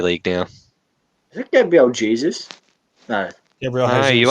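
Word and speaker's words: Jesús: And it's pronounced Jesus, by the way.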